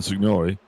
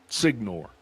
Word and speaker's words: Signori: Sean Signori and I know I'm pronouncing his name wrong. Senor Senor Senor Signor Signore. That's it.